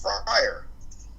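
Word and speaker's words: Fryrear: name is friar and it's uh spelled f-r-y-r-e-a-r and that's pronounced friar and there's a website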